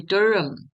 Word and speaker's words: durum: 硬粒小麦称为杜兰小麦，因为发音是 Durum，这就是意大利面的原料。